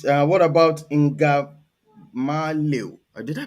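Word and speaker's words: Ngamaleu: What about Ingamalio? Did I pronounce it well?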